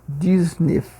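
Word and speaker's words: dix-neuf: E o francês, apesar de ser 10 9, a pronúncia sendo um pouquinho específica. Disnef. Aí o dis, né? O 10 ele tem um som de s mesmo no final.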